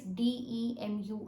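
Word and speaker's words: demure: vary a little bit uh the spelling is d e m u r e but it is pronounced as demu okay the word means uh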